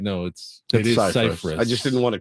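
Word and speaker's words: Scifres: it's actually pronounced Cyphers, not Cyphers. I was going to ask you, isn't it Cypress?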